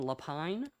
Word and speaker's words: Lapine: morning will be lapine or lepine i'm not sure how that's pronounced please correct me good morning mr chairman member of the committee uh my name is lapine i'm the legislative aide